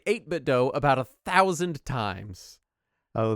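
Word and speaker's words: 8BitDo: for us to say 8bit do about a thousand times oh they insist that it's pronounced 8bit do they're wrong they're very wrong it's 8bit D I think they're trying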